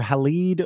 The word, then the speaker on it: Halide: of time here I'd I never pronounce this correctly I don't know if it's Hallett or halide or I mean it